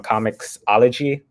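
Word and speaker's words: comiXology: the uh on i found it on comics ology that's how you say it correctly and i found it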